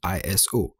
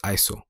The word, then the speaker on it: ISO: international organization for standards note that it is not an abbreviation so it's not iso it is actually pronounced iso i checked iso basically